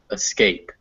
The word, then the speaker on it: escape: Remember that the emphasis is on scape. The at the beginning is just a escape.